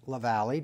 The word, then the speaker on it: Lavallee: Chris Lavallee. Did I pronounce that correctly?